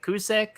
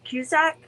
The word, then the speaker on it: Cusack: his last name running i said cusick um cusack yeah cusack okay yeah that was i